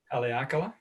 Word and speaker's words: Haleakala: Because by the time, again, you pronounce the volcano so well. Say it again, please. Haleakala?